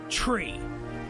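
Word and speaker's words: Chree: CH cheese but CH and then re so tree okay they don't even give these kid a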